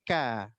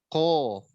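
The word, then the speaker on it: ق: Ini Bapak Ibu sedanten, satu kesalahan dalam pengucapan ko, tidak menebalkan ko ketika berharokat fathah dan dhammah sehingga menyerupai ka. Niku salah. Harusnya ko. Bunyinya o, enggak boleh monyong.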